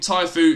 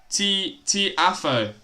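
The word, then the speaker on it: Tiafoe: Who? Tiafo. Alright. That's how you pronounce his name.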